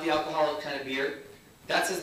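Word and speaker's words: Bir: When we were picking his name in the hospital, his name is Beer. It is spelled B-I-R, right?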